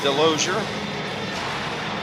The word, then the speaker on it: Delosier: Okay, I heard from some of the Westlake people here that Dalton does pronounce his name Delosier. So we will stick with that.